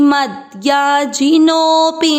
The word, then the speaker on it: मद्याजिनोऽपि: भूतानि यान्ति भूतेज्या, यान्ति मद्याजिनोऽपि माम्। पी को नहीं खींच रहे हैं, नो को खींच रहे हैं, जिनोऽपि माम्।